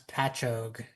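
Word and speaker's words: Patchogue: Um, Marley wanted to know how to pronounce patchog. That's not an easy one. It's like quag, which I learned from uh Family Guy when I was a kid.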